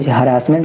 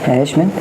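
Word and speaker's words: harassment: कोई हरासमेंट कहता है। हैरेशसमेंट। इसका मीन प्रोनाउंसिएशन होता है।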